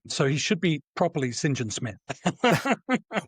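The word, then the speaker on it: St John Smythe: John is pronounced singing as a as a surname. So, he should be properly singing Smith.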